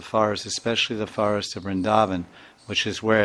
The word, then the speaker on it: Vrindavan: But specifically, there's a forest of Vrindavan, which is technically the right way to say it, Vrindavan.